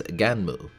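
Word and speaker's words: Gunnm: released in Japan as ganu which is the most proper pronunciation I could find and apparently a portmanto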